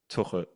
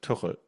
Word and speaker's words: Tuchel: Tuchel. Thomas Tuchel. That was pretty good. Tuchel. Yeah, with an L in the end.